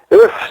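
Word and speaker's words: Herf: C'est un livre de Elf, d'ailleurs, c'est un livre très connu, appelé Reactionary Modernism. Je suis en train de vérifier si exactement. EURF, ça s'écrit H-E-R-F.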